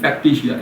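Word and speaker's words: factitia: toxicosis फैक्टिसिया thyrotoxicosis फैक्टिसिया है ना इसका प्रोनाउंसिएशन कैसे करेंगे फैक्टीशिया एफ ए सी टी आई टी आई ए फैक्टीशिया thyro toxicosis फैक्टिसिया what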